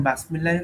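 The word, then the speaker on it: بسم الله: যে বাসমিল্লাহ না বিসমিল্লাহ, এখন আমি জানি যে আরবরা বা তারা কখনোই বাসমিল্লাহির রহমানির রহিম রাহমানির রাহিম এটা উচ্চারণ করে না। বাসমিল্লাহ এটা কি ধরনের একটা শব্দ? বিসমিল্লাহির রহমানির রহিম এটাই উচ্চারণ করে, এটা আমরা জানি।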